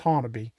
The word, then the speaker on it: Honobia: Honobia, Oklahoma, and yes, it's spelled Honobia, but it's actually pronounced Honobia, where a family had,